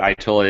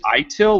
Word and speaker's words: ITIL: how to pronounce it so is it itil or idle i usually actually say idle but then nobody knows what i'm talking about itil is pretty much the common but you'll hear people actually